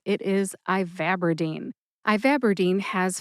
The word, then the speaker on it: ivabradine: Put all 4 syllables together and you get ivabradine. Emphasize VAB. That's that second syllable, VAB. See if you can hear that emphasis when I say it again.